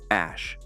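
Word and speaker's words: Æ: E is pronounced Ash.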